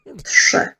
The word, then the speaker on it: trzy: I thought that today I would talk about the pronunciation of this word here. Trzy.